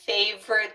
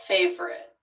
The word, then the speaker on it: favorite: What about favorite? Yeah, I think I did find myself kind of saying favorite. Favorite. Really? Okay. Favorite. So, three.